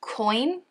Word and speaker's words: Keun: by earn guard and i've been told it's pronounced coin like it's it's spelled k-u-n